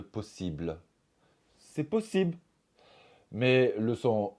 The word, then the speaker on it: possible: un exemple on va dire possible au lieu de possible c'est possible mais le